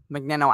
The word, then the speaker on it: Magneno: now know to say my name which is mcnino and to that one person who made